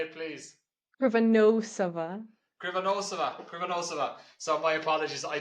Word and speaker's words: Krivonossova: Krivonossova. Did I say it right? No, I didn't. Did No. I not? No. Did you say it, please? Krivonossova.